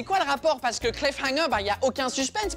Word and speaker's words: cliffhanger: Ça se prononce Cliffhanger parce qu'il y a deux mots collés ensemble, c'est Cliff and Hanger, qui veulent littéralement dire s'accrocher à une falaise.